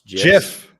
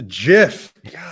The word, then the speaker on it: GIF: are actually gifts which john likes to pronounce jeff it's a jiff let's get this right